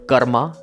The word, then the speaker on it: karma: pronunciation, it is called karma at your end. In Hindi, it's pronounced as karm.